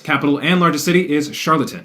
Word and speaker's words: Charlottetown: Capital and largest city is Charlottetown. Sounds like the word charlatan. Yeah, I'm not sure if I'm actually pronouncing that right, but that's how I grew up pronouncing it.